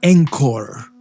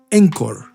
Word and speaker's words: Encore: tomado en cuenta y que se llama encor encor se escribe Encore en español y de lo que